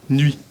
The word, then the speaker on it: nuit: comment pour la Bruxell comment on prononce ce mot nuit très bien nuit sans le t ho una Laud para